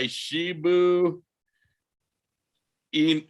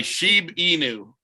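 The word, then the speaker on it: Shiba Inu: of it save my shibu in my sheep inu yeah see i've been saying it wrong the whole damn time save my sheep e new coin and if you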